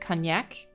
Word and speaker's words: Cognac: Cognac?